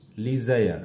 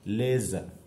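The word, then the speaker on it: leisure: দেখো আমরা বলে থাকি কি লিজায়ার, আসলে লিজায়ার নয়, এটা হচ্ছে লেজার।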